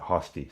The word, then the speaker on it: Hosty: uh he says Frosty so that kind of suggests to me that the pronunciation is is hosty because seemed like it would rhyme right so actually I think I've just changed my mind I'm going to pronounce it hosti so hurray their hosti